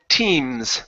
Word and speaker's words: teams: Let's go to teams. Make sure to pronounce this S here.